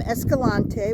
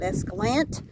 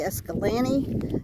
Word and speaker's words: Escalante: Anyway, the locals pronounce it anywhere from Escalante, which in my opinion is the correct pronunciation because he was Spanish. But then a lot of people get lazy and they just call it Escalante.